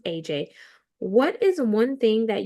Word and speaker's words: Ece: So, with your name, it looks like Essie for those who may see it on the screen, but it's actually pronounced AJ.